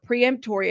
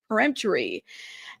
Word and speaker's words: peremptory: Preemptory. I should probably know how to say this word by now. But I want to make sure I'm pronouncing it correctly. Peremptory.